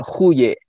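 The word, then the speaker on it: Goeje: Jadi Said Usman seperti yang tadi disinggung oleh Ustadz Atung, ada hubungan beliau itu dengan namanya De Guye ya, bacanya Huye atau ya kurang lebih seperti itu ya.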